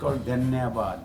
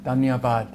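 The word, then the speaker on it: धन्यवाद: Lo más común es "Dhanyavaad". Dhanyavaad. Bien. Más educado, como Dhanyavaad. Dhanyavaad.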